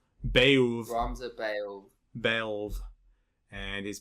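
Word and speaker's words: Beoulve: But now it's fully voiced, and we get to watch the adventures of Ramza Beluv, which apparently is how you pronounce that. Belv. Beouf.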